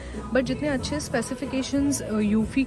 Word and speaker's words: eufy: गो for this one इसको pronounce करते हैं यूफी हमने अपनी भी रिसर्च